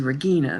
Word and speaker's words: Regina: and a I na which most people say Regina or Regina hers was Regina the G was hard which she was a